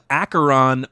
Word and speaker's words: Acheron: acheron i had to look up how to pronounce that i was gonna that's why i wanted you to read it yeah it's acheron part one and that synopsis reads returning to